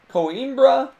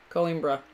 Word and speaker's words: Coimbra: You're making me look bad the way you pronounce that, because I can't roll my R. Sorry. Coimbra.